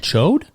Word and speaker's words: Choate: saying it right okay I looked it up choked chode not not that's what I said choke that's what I said showed spelled c-h-o-a-t-e okay it's a soft tea tote which is a boarding